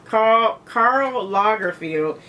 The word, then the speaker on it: Karl Lagerfeld: It is a Karl Lagerfeld. Is that how you pronounce it? Yes, Karl Lagerfeld.